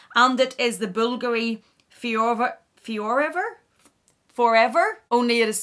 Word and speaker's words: Fiorever: And it is the Bulgari fiorever? Only it is spelled F-I-O-R-E-V-E-R.